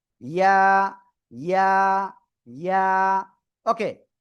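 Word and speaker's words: ياء: ইয়া। ইয়া, জিহ্বার মধ্যখান তার বারবার উপরে তালুর সাথে লাগিয়ে এই অক্ষরটা উচ্চারণ করতে হয়।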